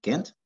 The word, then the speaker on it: can't: Pues can y can't. A ver, esta. Can't. Un poquito más larga.